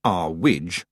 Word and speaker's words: Earwig: And Mrs. Earwig, pronounced R Wij, at least by Mrs. Earwig, believed in shiny wands and magical amulets and mystic runes and the power of the stars.